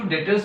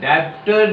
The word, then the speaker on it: debtors: Trade receivable equals to डेटर्स plus BR. डेब्टर नहीं होता, B silent.